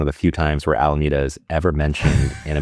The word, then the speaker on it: Alameda: Is that how you pronounce Alameda? Alameda? Alameda. Yeah. And you can also watch Star Trek 4, where it's one of the few times where Alameda is ever mentioned in a movie, where the